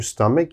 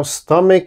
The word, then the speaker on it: stomach: often mispronounce same problem there's a ch so they say stomach oh please don't say stomach never say that it is always stomach stomach strong k sound here stomach all right and